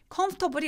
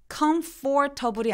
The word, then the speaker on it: comfortable: comfortable이 어떻게 발음되냐면 미국식으로는 comfortable이 아니라 중간에 있는 OR을 아예 발음을 안 해서 comfortable 이라고 발음합니다.